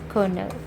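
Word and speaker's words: colonel: another is already we discussed right Colonial is pronounced as what kernel now kernel is also a word okay this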